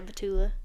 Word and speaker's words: Batula: Summer House, yeah, we got we got Kyle Cook and Amanda How do you say her last name? Batula? Yeah, Batula.